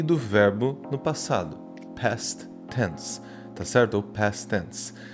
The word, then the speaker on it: past tense: Às vezes na pronúncia você pode colocar o T do past com o T do tense, formando um T só, né? Past tense.